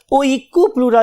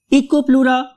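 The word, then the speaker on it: Oikopleura: इको, eco, right, eco and then प्लूरा। बहुत से लोग इसको याद करने के लिए ओइकोप्लूरा भी कहते हैं, राइट। इकोप्लूरा और ओइकोप्लूरा, जो भी आपको अच्छा लग रहा है, आपको अपने सबसे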